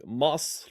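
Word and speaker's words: مصر: If you Masr is how you say Egypt in Egyptian Arabic.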